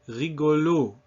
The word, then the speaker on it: rigolo: Because the accent in French always falls on the last syllable.